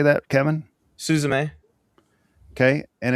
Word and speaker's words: Suzume: Suzume.